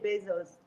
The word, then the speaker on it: beijos: How do you say beijos, kisses in Portuguese?